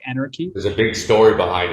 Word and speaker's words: AnRKey: And I'm actually, when I looked at your project, AnRKey X, and first of all, the pronunciation was pretty interesting to me, right? Like anarchy.